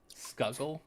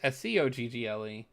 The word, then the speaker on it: Scoggle: which is funny because most people is like Skuggle. Like, very few people pronounce Skoggle correctly, which is funny because we have the word toggle that is almost identical to the word that is pretty well known, Toggle, and Skoggle is Scoggle.